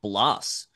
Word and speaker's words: Bloss: and that is Jake Bloss, who is a, and I hope that's how you say his last name, rhymes with Moss or Floss.